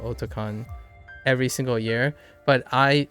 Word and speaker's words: Otakon: And it's pronounced Otakon because it's otaku meets convention. So you could argue like, but it's Otakon, and it's like, nah, it's a combination, East meets West. Otaku meets convention.